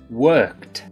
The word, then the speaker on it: worked: now let's work on the word worked worked worked once again notice a t sound at the end worked now here's a